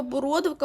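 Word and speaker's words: бородавка: окрім знову нашого бородовка бородовка у нас особлива має наголос на другому складі усе інше все що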